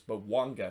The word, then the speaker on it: Bouanga: Or it's not Bouanga, it's Bouanga.